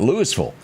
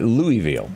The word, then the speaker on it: Louisville: Here locally we call it Louisville. Well, just to do north of Nashville, they call it Louisville. Spelled the same way. It's just depending upon where you are and how you pronounce it.